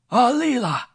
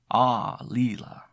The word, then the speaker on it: Aalila: "Aalila!" Drawn out on the first syllable. Aalila.